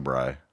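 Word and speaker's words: brei: but it's spelled brie, like the cheese, no? B-R-I-E. No, it's not brie. You're at a Jewish deli. It's not a French cafe.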